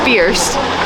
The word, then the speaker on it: First: Gondola to First is up, and it's spelled first, but it's First. Keep saying it wrong.